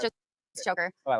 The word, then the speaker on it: Choker: Did I pronounce that right, Choker? Yeah. He put that phonetically in there. I was asking him. I feel like it's Shokar or something.